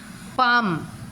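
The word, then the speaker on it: palm: Hesson, Hesson, हैशन, इसको क्या pronunciation है, हैशन, hash, HAS, AS, हैशन, N, टी का प्रोनाउंसिएशन नहीं हो रहा है। पाम, पाम, पा, म, L का प्रोनाउंसिएशन नहीं हो रहा है।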